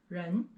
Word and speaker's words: 人: And the pronunciation is 人, 人.